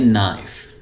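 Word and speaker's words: knife: उसको कहते हैं सीड और यह के य पर साइलेंट है तो इसको पढ़ेंगे नाइफ नाइफ होता है छुरी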